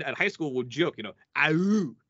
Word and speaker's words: Aewch: And I'm just like, it's ouch. You say it like you're ouch as in pain.